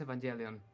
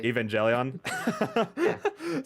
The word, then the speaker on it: Evangelion: Uh, it's pronounced Evangelion. That's all I wanted to say. Evangelion.